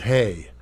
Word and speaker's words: Haigh: I heard it pronounced Haigh, and I also heard it pronounced Hay, but I'm going to go with Haigh. It's a little bit easier with other words. So let's go with the more prevalent of the two.